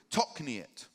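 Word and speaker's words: תכנית: And that word is spelled T-O-K-N-I-Y-T in Hebrew, tokniet. I think you pronounce it.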